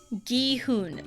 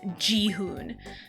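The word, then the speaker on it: Gi-hun: It's the hard G.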